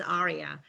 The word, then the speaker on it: AREAA: you so much everybody to pronounce this a-r-e-a-a in the correct way a lot of people you know pronounce it wrong yes is arya it stands for the